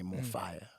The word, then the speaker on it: Mofaya: this can more fire we decided with the Faya instead of the f-i-r-e because we believe f-a-y-a can be pronounced in any language in any International or local African language Spanish Portuguese English whatever language it's still spelled or pronounced the same way more fire and a lot of